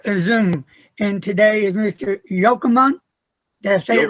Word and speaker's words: Yochanan: welcome to another zoom and today is Mr yokomon that's it right yeah wow I'm surprised I